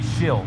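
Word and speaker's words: Schill: the seventeen of shrill i gotta say his name man it's gotta be shill yeah s-c-h-i-l-l shill lance shield outside row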